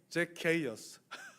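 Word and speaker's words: Zacchaeus: 영어 발음이 제케어스예요. 제케이어스.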